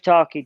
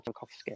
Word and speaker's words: Tarkowski: Because another reason I want to see it pushing up is because if Tarky does go, or Tarkowski as it's pronounced, if he does get like a sniff